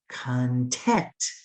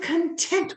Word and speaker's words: content: i want you to put the emphasis open your mouth wider for the second syllable content i'm content with your work that means i'm happy i'm satisfied but if i open my mouth wider for the first syllable content say it like that content it changes in the meaning it means your things or your belongings so we're going to